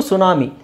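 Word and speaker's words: tsunami: ಟಿ ಇಲ್ದೇನೆ ಹೇಳಬಹುದು okay ಇದು ಸುನಾಮಿ ಸುನಾಮಿ ಸುನಾಮಿಯಲ್ಲಿ ಟಿ ಸೈಲೆಂಟ್ ಆಗಿರುತ್ತೆ ಓಕೆ ಆಮೇಲೆ ಇಲ್ಲಿ ನೋಡಿ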